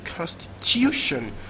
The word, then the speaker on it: Constitution: so the main stock Constitution will be stressed on the third syllable Constitution to have so it's